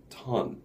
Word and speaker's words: turn: 그 무게 재는 단위인 turn. So, T-O-N, 사실 O 들어가지만 ton처럼 발음을 해요. 2-ton, 3-ton. 그리고 이것은 turn, turn. 그래서 R 발음을 꼭 살리셔야 돼요. turn, turn.